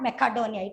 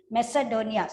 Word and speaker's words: Macedonia: Don't mention it as, don't pronounce it as Macedonia. It is not Macedonia. It is Macedonia.